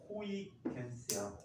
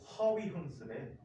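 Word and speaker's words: Huygens: 이제 네덜란드 이름으로 하면은 이 사람 그대로 발음은 호이겐스야. 호이겐스. 그래서 내등 이렇게 썼어. 근데 명박 씨가 대통령 되는 해. 영어가 뿌리째 다 뽑혀버렸지. 거의. 그리고 이 사람 이름을 이렇게 불러. 비스시나 하니? 아니요. 하위훈스래.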